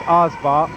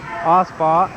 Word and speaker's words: Oba: And I'm going to change this pronunciation. I know the right way. It's Oba. Oba.